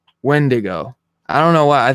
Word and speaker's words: Wendigo: Wingdingo or something, The man. Wendigo.